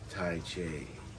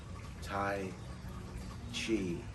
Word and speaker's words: tai chi: ever seen tai chi tai chi yes i've finally pronounced it correctly seven or eight minutes into the video and now i'm saying it correctly tai chi this is this is